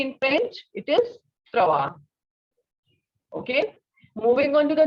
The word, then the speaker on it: trois: French is va, and the sound of S will not be pronounced. So what is 3 in French? It is Trois.